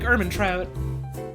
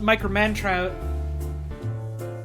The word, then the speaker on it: Ehrmantraut: And for ages I thought his name was pronounced Micromantrout. Because one time, one of my friends typed his name into a fucking TTS bot, and it pronounced it as Miker-Mantrout.